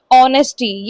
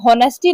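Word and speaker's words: honesty: ऑनेस्टी। ये word ना ऑनेस्टी होता है। इसमें एच साइलेंट होता है। ठीक है? इसको आप ऑनेस्टी पढ़ेंगे। होनेस्टी नहीं पढ़ेंगे।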